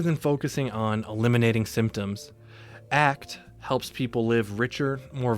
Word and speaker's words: ACT: Acceptance and commitment therapy, known as ACT and pronounced like the word ACT, is a psychological framework that helps individuals build psychological flexibility.